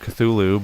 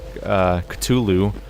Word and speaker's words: Cthulhu: audience has decided that it means that it's pronounced Cthulhu, but like South Park pronounced it Cthulhu. But really, the secret is that you can't pronounce it for real, and you only pretend to pronounce it, I think, is how it works.